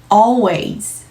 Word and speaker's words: always: 사람이 되는 거죠 한번 해볼까요 두 번째 정확한 발음으로요 always aways 들리시나요 원어민이 읽어주는 대로 먼저 들어보실게요 들리시나요